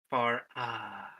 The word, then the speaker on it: Farah: Far ah. Farah. Ah, like Lord Faramir.